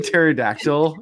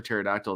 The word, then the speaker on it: pterodactyl: the children's book and it's it's each letter but with a word that does not start with the same sound. It starts with a silent letter.